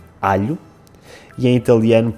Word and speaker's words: alho: We pronounce a short /ʎ/: alho; and in Italian it is pronounced a long /ʎʎ/: aglio KITCHEN You got it wrong.